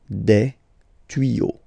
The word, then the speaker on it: tuyaux: Same rule, you don't pronounce it. Des tuyaux. Okay, un tuyau, des tuyaux. So the only difference will be with the article because the word will be pronounced the same way.